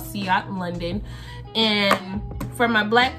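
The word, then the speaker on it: Ciaté: say it wrong every time but it's called sea otter London and from my black women it's translucent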